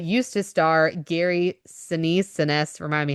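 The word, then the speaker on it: Sinise: Seness, remind me how to say his name. Senise.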